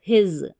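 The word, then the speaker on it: his: देखिए ह इ ज हिज अब इसको हिस नहीं पढ़ना आप हिज पढ़ना देखिए क के का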